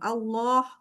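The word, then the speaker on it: الله: Tapi arah daripada suara jangan ke arah langit-langit, tapi ke arah luar. Jadi Allah, Allah, keluar, harus keluar. Allah, keluar. Bukan di ke dalam, Allah, jangan Allah, jadi ke dalam Allah, tapi Allah keluar.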